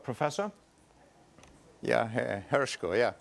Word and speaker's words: Hershko: Is it Professor Hershko? I'd like to get the pronunciation right. Professor? Yeah, Hershko, yeah, correct.